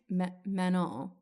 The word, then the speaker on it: Manon: Yeah, like they don't pronounce the last N. I still can't even really do it, but it's like Manon.